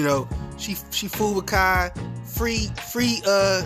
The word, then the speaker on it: Kai: she she fooled with Kai free free uh she called him KY she didn't know how to say his name you confused about that